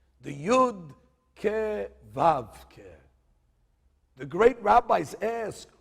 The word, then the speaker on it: Vav: How do you say the word Vav?